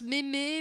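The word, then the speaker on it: mème: Comment on le prononce mémé même ? Normalement, en fait, on devrait le prononcer même parce qu'en fait c'est un mot qui a été créé en par analogie avec le mot gêne.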